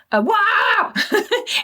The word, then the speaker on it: WAAAGH: WAAAGH, which is essentially, if you're ever wondering how to pronounce it, just imagine you've just stood on Lego and stubbed your toe at the same time. WAAAGH isn't just a war, it's a full-blown galactic event.